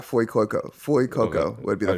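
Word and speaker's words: Fuecoco: So the Fire one is Flu Coco. Is that right? Yeah, Foy Coco.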